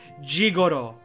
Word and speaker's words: Jigoro: His name is Gigolo, pronounced with a Japanese accent. Jigoro.